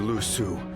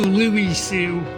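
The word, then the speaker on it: Lü Su: You mustn't downplay your achievements, Lord Lu Su.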